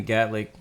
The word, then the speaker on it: Gatwick: Oh, again, welcome to Gatwick. That's how you say it. Welcome to London. Gatwick. I said Gatlick.